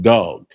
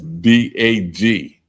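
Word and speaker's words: דג: fish and it's pronounced dog and that's d a g d a g. That's how you spell it in Hebrew, but it's pronounced dog, not dag.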